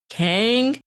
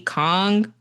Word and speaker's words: Kang: So I'm not sure if she pronounces as Maggie Kang, which I've heard in the interviews, or if it's like Maggie Kong, which is how you actually pronounce it in Korean.